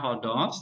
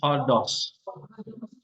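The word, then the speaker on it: ὁδός: berarti apa acute Nah berarti bacanya o dos dos-nya o-nya dinaikin nadanya n Bukan hodos tapi hodos Nah itu maksudnya Jadi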